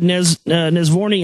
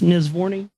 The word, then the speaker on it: Nesvorny: To reach his conclusions, how do you say this guy's Nesvorny? Yeah, Nesvorny ran 6,000 simulations of the solar system's birth and early development.